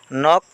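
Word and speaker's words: knock: কে silent বর্ণ নি মানে আঠু ইয়াতে কে সাইলেন্ট বর্ণ নক নখ মানে হব্দ করা ইয়াত কে হইছে সাইলেন্ট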